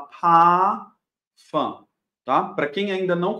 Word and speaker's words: Parfum: r do pafan não o que acontece no alemão sempre que eu tenho uma letra R antes de uma consoante ou no final da frase ela é pronunciada como se fosse uma letra A então aqui eu não vou falar par fã eu vou falar pa fã tá para quem ainda